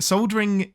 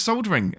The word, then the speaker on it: soldering: right it's soldering um there is an l in there for a reason i don't know why you people keep having to change the way we we made these words um it's one soldering is the correct way